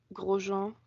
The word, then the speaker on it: Grosjean: Grosjean, sorry. Let's not do it the English way.